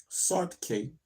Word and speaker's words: Saartjie: The most infamous medicalized display of the captive black befell Saartjie, pronounced Sartke. Good, I'm glad they put that there.